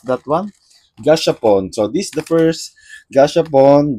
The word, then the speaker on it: gashapon: So, let me start with uh with this gaspon. They have like four gaspon. Am I right how I pronounce that one? Gashapon.